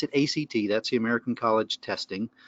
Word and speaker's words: ACT: and commitment therapy are it's also known as act you don't pronounce it a CT that's the American College testing just act so if you want to be inside the